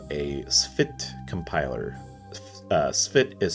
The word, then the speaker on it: Spht: or the 4 faction, which is called a Spht compiler. Spht is spelled S-P-H-T.